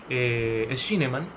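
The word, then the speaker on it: Schünemann: Jesús María Silva Sánchez y luego también se pronuncia Schneemann, y es un texto precioso desde el punto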